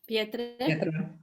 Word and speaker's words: pietre: Pietre. Pietre, like pierre, yeah, in French.